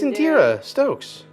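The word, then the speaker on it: Indeera Stokes: Oh, it's Indira Stokes.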